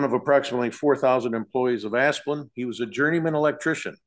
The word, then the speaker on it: Asplund: It pleases the court, William Moore of Clark Hill, appearing on behalf of Asplund, is how we pronounce that, Asplund Construction Company.